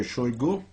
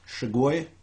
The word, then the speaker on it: Shoigu: about again Sergei shoigu my pronunciation is chagoi but at this plain and simple wrong it's bad pronunciation I'm short with time